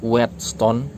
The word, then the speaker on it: Wheatstone: yang ada kaitannya dengan jembatan wheatstone apa sih whetstone ya kira-kira gitu ya bacanya web itu kan gandum